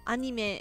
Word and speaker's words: anime: Whenever I tell my students that anime is pronounced anime in English, they're like, what are you actually talking about?